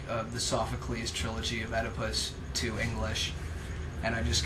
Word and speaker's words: Oedipus: Oedipus is spelled OEDIPUS because I didn't know that, but now I do. And I know how to say it correctly too. Oedipus, not Oedipus. Think about it, people. That's right. Read your Sophocles.